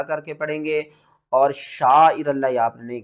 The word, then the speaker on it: شعائر: رل، لام کھڑا زبر لا، ہا زیر ہی، شعائر اللہ، لفظ اللہ سے پہلے جب بھی زبر ہوگی ہم لفظ اللہ کو موٹا کر کے پڑھیں گے، اور شعائر اللہ یہ آپ نے نہیں کرنا، آپ نے